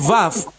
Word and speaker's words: vav: YHWH itu Ibrani klasik, YHVH Ya, V itu Ibrani modern. betul. Orang Ibrani sudah tidak menyebut waw lagi tapi vav.